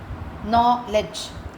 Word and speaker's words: knowledge: Also in English you have something called silent right? N O no knowledge K n o where is that k we don't say k knowledge then maybe as young